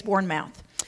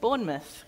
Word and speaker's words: Bournemouth: she runs a nonprofit Ministry called Street space Bourn mouth Bourn mouth is uh am I pronouncing that correctly nope nope not at all she's going to correct me but it's hilarious how do I say it Bournemouth Bourn okay yep bouth yep Street space it